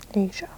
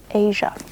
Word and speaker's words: Aja: Asia. Asia. That's how you pronounce it. Asia Gable.